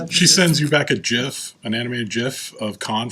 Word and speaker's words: GIF: backwards and it's pronounced GIF yes it is because it's graphic there you go graphic